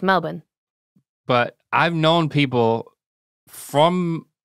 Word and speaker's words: Melbourne: It's pronounced Budapest. Well, that's how, I mean, when I say Melbourne. We say Melbourne correctly. Right. It's Melbourne.